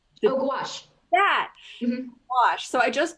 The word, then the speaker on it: gouache: bought a a palette of i'm going to pronounce it incorrectly because i cannot remember uh gauge no gouache that wash so i just bought a palette